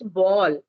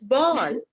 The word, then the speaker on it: ball: English and according to that we have to pronounce it so it's not ball it's ball bow bow even they say heard many times